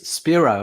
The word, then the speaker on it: Spiro: authors spiro who i like to call spiro because i'm greek welcome to the show thank you sophie very kind of you and it is spiro and not spyro i i think it's talk